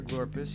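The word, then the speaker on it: Glorps: and F says why are you here glorus he says I live here this is my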